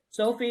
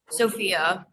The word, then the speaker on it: Sophia: Oh, Sophia, is that how you say it? Sophie or Sophia? Sophia.